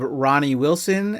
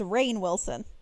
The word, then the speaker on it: Rainn Wilson: We have Ronnie Wilson as Jack Morris. The Office, he plays Dwight. He was in a horror movie called Cooties. What did you say his name is? Because it's Rainn Wilson.